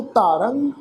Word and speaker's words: धारंग: ख्याल रखो, धारंग विचारंग, रारे अखर के उपर टिप्पी की मात्रा है, यदा पाठ नासकी उच्चारण करांगे धारंग विचारंग।